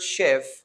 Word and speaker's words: chef: In the word chef, CH is pronounced like sh. Or in the word champagne, the CH is pronounced as sh.